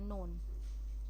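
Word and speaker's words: known: नोन। नोन मतलब जाना गया। यहां यहां पे ये साइलेंट है। इसको क्या पढ़ रहे हैं? नोन।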